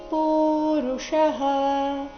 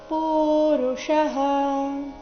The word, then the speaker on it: ಪುರುಷಃ: ಅನುನಾಸಿಕ ರೀತಿ ಆಗಿದೆ ಪಾಪಂಚರತಿ ಪುರುಷಃ ಪೂ ದೀರ್ಘ ಕೊನೆಗೆ ಷಟ್ಕೋನದ ಷ ಪುರುಷಃ ಅನಿಚ್ಛನ್ನಪಿ ಅನಿಚ್ಛನ್ನಪಿ ಛನ್ನಪಿ ಛ